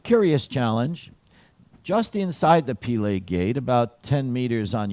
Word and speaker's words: Pile: That's the proper pronunciation, Pile.